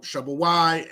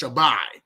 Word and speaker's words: Shabawai: Okay, so Shabawai, and sometimes it's even pronounced Shabbai.